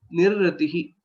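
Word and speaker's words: निर्ऋतिः: Okay, the pronunciation aspect for this letter, nirratihi, that's how it will be pronounced.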